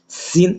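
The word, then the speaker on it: س: সিন একটু পাতলা করে শক্তভাবে পড়তে হবে। আরশিন হরফ গাল ভরে পড়তে হবে।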